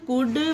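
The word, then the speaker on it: could: word है जैसे कि शुड कुड वुड और एक मुड यह तीन चार वर्ड है जिसमें एल साइलेंट रहता है जब डी से पहले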